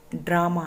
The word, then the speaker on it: ड्रामा: साथ शेयर किया है आ के आगे है ड्रामा ड्रामा में जो रहे उसका निर्माण कैसे हुआ